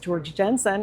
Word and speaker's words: Georg Jensen: A mid-century modern coffee tea set from Georg Jensen, often pronounced George Jensen in the United States.